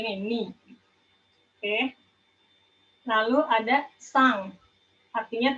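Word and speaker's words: 三: Lalu ada sang, artinya 3, sang, bacanya sang. Ditulisnya san, hanya bacanya 3, sang. En mati di belakang itu dibacanya sengau gitu, jadi eng, bacanya eng.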